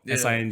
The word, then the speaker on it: Singh: what's your last name sing H sing Oh sing G with the silent h at the H yes gotcha gotcha gotcha what's